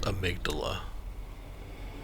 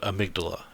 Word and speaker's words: amygdala: you the tonsil stone i know he says abdullah but they are pronounced amygdala i didn't lose my souls yay i suppose it depends on your accent how you pronounce it but amygdala is the proper u.s english way there's some cool items